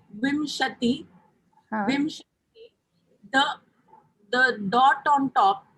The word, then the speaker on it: विंशतिः: We say Vimshati, Vimshati, the dot on top is pronounced as ma or na, like Vimshati or Vinshatihi.